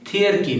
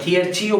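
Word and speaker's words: thearchy: Next, government by gods that is called থিয়ারকি, কি উচ্চারণ করবো থিয়ারকি, নট থিয়াক্রেসি, থিয়ারকি বা থিয়ারচিও বলবো না, দ্যাট ইজ কল্ড থিয়ারকি, ঠিক।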